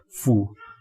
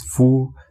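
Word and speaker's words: 夫: And the pronunciation of this is fu. Chinese pronunciation pinyin is fu, the first tone, with the first tone.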